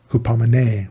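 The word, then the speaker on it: ὑπομονή: Hupamine. Well, hupamine, sorry, the accent is on the last one.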